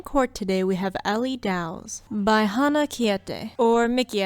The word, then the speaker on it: Dows: It almost even sounds kind of dowy and dows rhymes with cows.